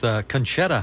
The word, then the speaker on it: Conchetta: Sandra Kowski is my guest this morning with conetta house is that did I pronounce that part right you sure did so